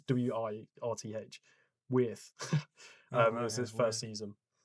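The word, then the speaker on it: Wirth: I don't know how it's spelled really weird. It's W-I-R-T-H. Worth.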